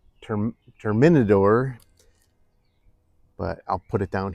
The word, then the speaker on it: Terminador: I think he's pronounced it Terminator, but it's Terminador.